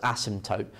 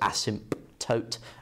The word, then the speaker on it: asymptote: a strange spelling so we don't really pronounce the p okay it's got silent p so asymptote some people pronounce it asymptote okay but it sounds